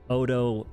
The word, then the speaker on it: Odo: Then I realized I'm a broke college kid, and Odo rhymes with, like, Nodo and Odo rhymed.